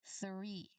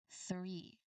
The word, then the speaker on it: three: Three. Three. So, the th sound here is voiceless because you don't um it does not vibrate when you try to say it.